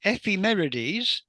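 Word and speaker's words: ephemerides: Uh, XCOK is a proam collaboration, a professional amateur astronomer collaboration with the aim of improving the Femeres, to pronounce it correctly, of exoplanets, which will be the target ofSa's aerial mission uh, due for launch in 2029.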